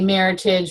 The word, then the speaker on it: Meritage: And so I picked out a Meritage, and I said, when you order it, make sure you say Meritage, rhymes with heritage, because I had Mr.